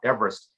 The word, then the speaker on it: Everest: It's not Mount Everest to most people. Of course, it's Mount Everest.